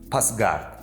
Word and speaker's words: Пасгард: Notice that the consonant С [s] is pronounced a little louder here and sounds like З [z]: Пасгард (the one who returns), or the other word Досгар (The sickle master).